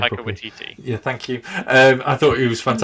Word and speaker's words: Waititi: I can never pronounce his name Taika properly. Waititi.